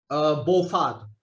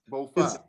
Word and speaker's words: Faat: It's Faat? Faat. Faat. Faat, yeah, because it's actually a Cantonese name.